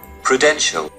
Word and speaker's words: Prudential: next in the list is p-r-u-d-n-t-i-a-l the correct pronunciation is prudential the next in the list is j-a-g-u-a-r the